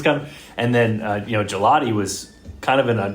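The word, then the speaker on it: Gillotte: How does he pronounce his last name? Gelati. It's with an E. Gelotti.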